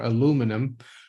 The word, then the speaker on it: aluminum: to make it an aluminum or aluminum uh as the Americans say and it's and